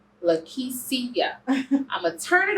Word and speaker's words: Lakischia: Lakischia. Lakischia.